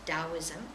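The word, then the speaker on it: Taoism: spelled T AO i m taism but they pronounced dosm and it's Chinese it comes from the Dow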